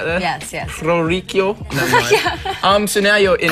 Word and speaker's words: Orrico: the pronouncing right there? Yes, yes. Orrico.